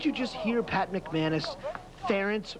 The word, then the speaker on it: Ferentz: it's parents remember parents rhymes with parents right it's ferrets didn't you just hear Pat McManus Ference rhymes with parents apologize